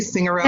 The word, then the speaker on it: Signorelli: And joining me today on a very powerful conversation is Holly Signorelli. I never say that right. Did I say it correctly? Signorelli? No, you did.